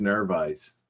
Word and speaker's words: Narvaez: It's like eyes. I think it's Narvaez. I think it's how it's supposed to be. It's Puerto Rican.